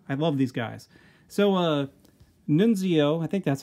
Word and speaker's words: Nunzio: So, Nunzio, I think that's how you pronounce it, N-U-N-Z-I-O, Nunzio, Nunzio, came with Courtroom Battle Peter and Tony, Nunzio and Tony.